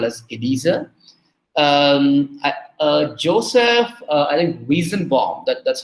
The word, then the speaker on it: Weizenbaum: Joseph, I think Weizenbaum, that's how we pronounce it.